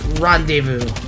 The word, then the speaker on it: rendezvous: just didn't know but wait but it's not pronounced blah desmos it's rendezvous so so it wouldn't be surprised if the